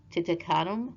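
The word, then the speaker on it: Tutankhamun: tutt's real name okay it's actually titum I believe that's how you say it Tut Tut to Common okay that's how he you pronounce his name okay and I'm really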